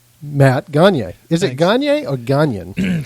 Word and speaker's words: Gagnon: The reality of the pronunciation, though, is Gagnon, if you were to do it French.